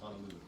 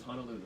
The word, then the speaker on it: Honolulu: about how he says Honolulu. So there's no such place as Honolulu. Do you see any A's in the word H-O-N-O? No, it's Hono, right? Hono means bay. Honolulu, deep water bay.